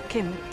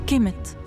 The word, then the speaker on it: كمت: على شكل جلد التمساح وتنطق كم ومعناها اللون الاسود وجا وراها علامه طائر البومه وهو حرف الميم جا لتاكيد نطق الميم في كلمه كم بعدها نصف رغيف الخبز وهي تاء التانيس وتتنطط الكلمه على بعض كمت يعني الارض السوداء وبقت